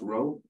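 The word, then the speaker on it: rho: row because you know it's pronounced row is also equal to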